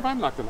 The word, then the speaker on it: Weihnachten: Frohe Weihnachten.